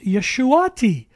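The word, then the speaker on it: ישועתי: Yahweh is my Deliverance which is pronounced yeshuati yeshuati equals my D Deliverance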